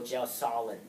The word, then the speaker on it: gelsolin: catalyzes that reaction is called gelin or gel Solin however you pronounce it I'll pronounce it gelsolin I have my own way of pronunciation okay so far so